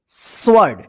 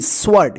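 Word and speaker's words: sword: मतलब होता है उत्तर स्वर्ड ए डब् ओ आर डी स्वर्ड यहां पे देखिए डब्लू जो है ना साइलेंट लेटर है ठीक है इसका उच्चारण नहीं होगा स्वर्ड का मतलब होता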